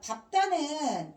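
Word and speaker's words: 밟다: 그 다음 밥다는 비읍으로 발음됩니다. 밥다, 넙죽하다, 넙둥글다, 넓적하다 4개만 비읍으로 발음한다.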